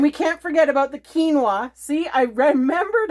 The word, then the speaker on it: quinoa: for baking and we can't forget about the quinoa see I remembered how to say it thank